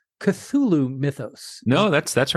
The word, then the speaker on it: Cthulhu: He is best known for his creation of the and I'm going to mess up the pronunciation, Cthulhu mythos. No, that's that's right. Cthulhu is exactly how it's pronounced.